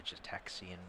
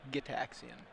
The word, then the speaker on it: Gitaxian: Off of the Jetaxian Probe. It's a fun card name to say, Jetaxian. I always thought it was a hard G. Gitaxian. Well, Jin Gitaxius?